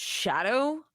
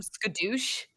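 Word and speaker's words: Scadu: Then on top of that, the way the DLC presents itself is that there are these so it's pronounced shadow, I've learned, but I was calling them skadoosh.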